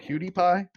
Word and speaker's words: PewDiePie: so you guys don't roast me is it cutie pie it's that how you say it okay I